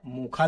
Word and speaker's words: मोखा: इसका उच्चारण मोखा भी है। यमन के शहर का नाम मोचा है जिसे मोखा भी कहते हैं।